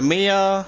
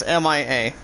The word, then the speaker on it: Mia: It's pronounced as M-I-A. M-I-A. Three letters in that word, first name.